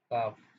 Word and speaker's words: calf: तो हमारे इसी क्रम में काफ, CALF, काफ मीन्स पिंडली, इसमें L साइलेंट रहता है।